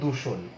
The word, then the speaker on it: দূষণ: এই দূষণ শব্দটার উচ্চারণে কিন্তু তোমার দয় দীর্ঘকারের জায়গায় দয় রস্যকার হয়ে যাবে, কারণ দীর্ঘকার তো তোমার বর্ণমালায় আছে, কিন্তু স্বরধ্বনির উচ্চারণে তো দীর্ঘ নাই।